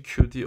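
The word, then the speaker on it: queue: kime parayı veriyoruz veririz q yazıl uzun ama sade q okunuyor bu kelime Bu arada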